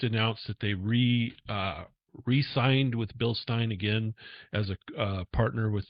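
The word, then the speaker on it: Bilstein: By the way, if you don't know how to pronounce it, it's not Bill Steen, it's Bill Stein.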